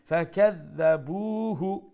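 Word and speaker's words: فكذبوه: করে স্টপ করব ফাকাযাবুহু Dal has a shadda double sound and pronounce the dal with the softer tone. Then ba waw pesh bu one alif long due to the waw madda. Fakadhabuhu taratari.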